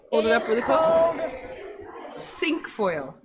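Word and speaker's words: cinquefoil: it up really close sink foil sink foil because oops because it has five the flowers have five petals so i know how do you say five in french okay um one more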